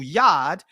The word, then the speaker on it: Yad: hair it had horns the original yad that's the proper pronunciation had horns the original